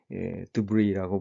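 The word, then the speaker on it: debris: 원래 프랑스어에서 기원한 단어라 끝에 S를 발음하지 않고 드브리라고 부르는데, 낙엽이 잘게 부스러져서 떠내려오는 것, 이것을 드브리라고 부릅니다.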